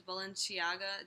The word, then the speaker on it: Balenciaga: So it says, it's those shoes, Balenciaga. Did I pronounce it right?